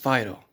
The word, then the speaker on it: Phaedo: If you're going to transliterate it into English, it is pronounced Phaedo.